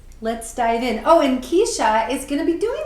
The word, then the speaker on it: Cyshia: Yeah, so that's Keisha spelled CYSHIA. Yes, it is. Yes, it is. How she pronounces it that way, I have no idea.